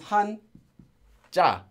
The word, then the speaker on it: 한자: of course from Chinese now this hon this character says Han in Korean if you read it in Korean and this character says JA the pronunciation this is Han JA when read um this